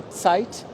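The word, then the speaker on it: Zeit: isso para sempre aí vai falar a palavra em vez de falar T fala Z que é uma outra palavra alemã aí vai ficar falando a palavra tempo em alemão que é tsite vai pronunciar Z que é uma outra palavra alemã que significa desde E aí vira uma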